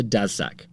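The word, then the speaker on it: Daszak: guy called peter dassack peter dassack does sex i'm just saying that twice so that you will remember that name do you want to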